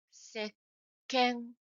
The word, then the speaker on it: 石鹸: To be more specific about how to pronounce it, stop breathing after pronouncing say and close your throats. After that, pronounce K as if it were to burst. I will pronounce it a little exaggerated. Listen carefully and try to copy it. Sekke, sekke, Therefore, it becomes sekken, sekken.